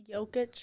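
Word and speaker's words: Jokić: Jokic.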